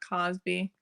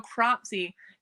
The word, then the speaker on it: Cropsy: Crobsy, not Cosby. Cosby show. No, Cropsy. Cropsy. Cropsy.